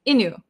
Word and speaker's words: into: to say very quickly we might skip over the t sound in into so sometimes when we talk fast it sounds like inu inu my friend talked me